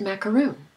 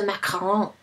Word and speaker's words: macaron: Is it macaron or is it macaroon? Well, those are two different things. This is a macaron.